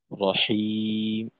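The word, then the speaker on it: رحيم: আর রহিম, তো এখানে যেহেতু হাই রহিম হুত্তি অর্থাৎ মাথা বাঁকা হা, তো হাতে আর একটু চাপ রাখা, যাতে করে গোল হা যেটা আছে এর থেকে উচ্চারণের পার্থক্যটা হয়ে যায়। হিম, রহিম, এরকম আর কি।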